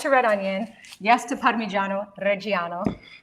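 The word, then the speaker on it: Parmigiano Reggiano: Yes to parmyo. Reo. Say it like an Italian. Parano. Parmesan. We can say parmesan here because we're in America, but my dad would say parmyo reo.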